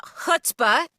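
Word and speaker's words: chutzpah: They like say Bulbasaur with more you know chutbah or whatever. So hutbah is the is the is the proper Yedish pronunciation.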